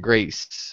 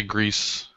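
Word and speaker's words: Greiss: probably not um Thomas Greece real quick is it is it gree is it Grace how how do you pronounce that name uh Thomas I'd say Greece yeah now that's what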